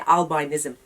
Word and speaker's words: albinism: That's how you say it, albinism.